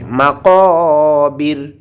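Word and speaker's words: المقابر: জুরতুমুল জুরতুমুল মাকাবির, ও এখানে এক আলিফ টান হবে, মাকাবির।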